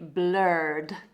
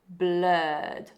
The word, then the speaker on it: blurred: So blur, blurred, not blurred, blur, blurred. Like nurse is the same sound, not nurse, we say nurse, blurred.